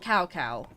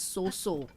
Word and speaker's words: Cao Cao: And no, his name's not Cao Cao, as they used to pronounce in the older games. They did mispronounce it. And the Orochi Warriors, sadly, is Japanese voice acting only, but they do pronounce it as So So, Cao Cao. You know, sort of thing. It's not Cao Cao. That's the very British way of saying it.